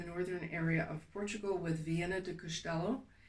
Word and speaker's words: Viana do Castelo: So I would start up in the northern area of Portugal with Viana do Castelo. It sounds like Vienna, like spelled like Austria, but it's not. It's V like Victor, I-A-N-O, do Castelo.